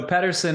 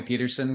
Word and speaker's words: Pedersen: So Pedersen is the Danish way to say it, but people call me Pedersen because it's just, living where I have for so long, that's just become part of, just part of the vernacular.